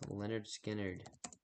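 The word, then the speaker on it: Lynyrd Skynyrd: So, um, my next song is off of Pronounced Leonard Skinnerd.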